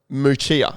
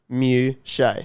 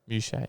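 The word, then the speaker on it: Muchea: And in this, they've got Moochia, apparently, according to Kane. Now, as you can see by this little breakdown, it is pronounced Mew-shay.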